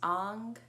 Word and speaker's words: Ang: your solar plexus chakra this mudra is pronounced Ang a n g when